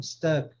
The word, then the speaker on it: stuck: É entre o A e o U, mas é aquele som, né? Bus. Não é bus, né? Porque o ônibus se escreve bus, né? Bus, mas pronuncia bus, né? Aqui é a mesma coisa, stuck, é o mesmo som, ok?